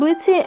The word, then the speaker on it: Blitzø: Bodyguarding and people pronouncing the O in his name.